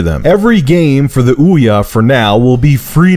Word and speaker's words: Ouya: It's pronounced like Booyah without the B. The Ouya is not meant to be a competitor with the current generation of consoles.